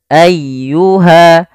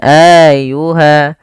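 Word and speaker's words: أَيُّهَا: tidak ditahan sanafrakum ayyuha ayyuha tekan di lafal ynya jangan ayyuha jangan Ayuha atau juga memanjangkan a-nya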